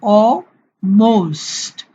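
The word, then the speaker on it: almost: Against, অলমোস্ট। এই এল এর উচ্চারণ ব্রিটিশরা সাইলেন্ট রাখে, অর্থাৎ উচ্চারণটা করে না। তাহলে এটা হবে অলমোস্ট।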